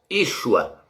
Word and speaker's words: Yeshua: Como é que esse nome é pronunciado, meus? Yeshua.